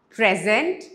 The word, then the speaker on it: present: So one is action, the stress is on the second syllable. Present, it's a noun, the stress is on the first syllable.